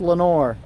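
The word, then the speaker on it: Lenoir: in the middle and how do you spell Lenore oh I are well I are but it's pronounced Lenore oh look there it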